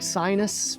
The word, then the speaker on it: Sinus: Spelled like sinus, but it's Sinus, I guess.